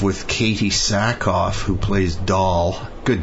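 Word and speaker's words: Dahl: Katie sackoff who plays doll good name for her d a l but pronounced doll as in what a doll yeah she she was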